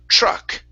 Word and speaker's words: truck: sound okay so um with the tr you want to pronounce that as a chr so with this word instead of saying it's true truck truck truck truck good